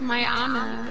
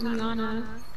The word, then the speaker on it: Miana: It's Miana, it's not Miana.